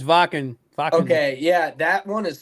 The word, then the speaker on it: Wacken: wanted to go to was, I think it's pronounced Wacken. Wacken. Wacken. It's Wacken.